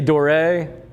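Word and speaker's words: Doré: I've heard it both ways. He is French. He spent a lot of time in London. The British say Dor. I think the French say door because it's got that little accent mark over the E.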